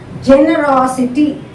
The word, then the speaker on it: generosity: Now third syllable from the back we have to check. This is the back first syllable, second syllable, third syllable from the back is raw. So generosity, raw has to be stressed. Generosity, generosity, not generosity, generosity. You have to stress the raw.